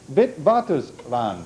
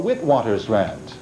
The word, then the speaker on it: Witwatersrand: What is the union of South Africa's Witwatersrand or Witwatersrand? I'm giving you 2 pronunciations.